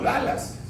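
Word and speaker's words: Dulles: Se se escribe dules, pero le dicen como Dallas.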